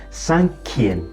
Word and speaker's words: cinquième: en sonken-san can v you add you before Ian sang key is to eat the pronunciation Sankey all right when you